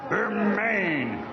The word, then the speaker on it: Bermane: Bermane, Bermane, it's Berman.